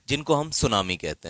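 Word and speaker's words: tsunami: सुनामी जो शब्द है टी एस यू एन ए एम आई जिसमें टी साइलेंट होता है।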